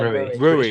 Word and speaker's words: Rui: Is it Roy? Did they pronounce it Roy? Rui? I say Rui. It's Rui Patricio.